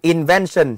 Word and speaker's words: invention: Theo C rất là dễ, những từ mà có đuôi tion trọng âm sẽ rơi vào trước nó luôn. Vậy invention sẽ là vào số 2.